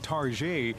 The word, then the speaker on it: Target: That faux French pronunciation, Target, is a tongue-in-cheek reference to how this discount store sells designer goods, from housewares to clothes.